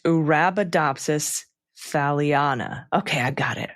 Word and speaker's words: Arabidopsis thaliana: And the Arabidopsis thaliana is pronounced Arabidopsis thaliana. Okay, I got it. Arabidopsis thaliana and Saccharomyces cerevisiae.